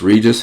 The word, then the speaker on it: Regus: Some people pronounce this Regis. I just call it Regus.